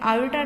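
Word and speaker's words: iota: इसके साथ क्योंकि एक आइटा लगा हुआ है तो ये नंबर क्या बन जाता है, कॉम्प्लेक्स। अब ये जो मैंने आई बोला है जिसको हम प्रोनाउंस करेंगे आयोटा टाइप, आइटा का मतलब क्या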